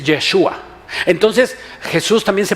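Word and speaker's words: ישוע: Y le digo, oye, ¿cómo se pronuncia Josué? Y me dice, Yeshua.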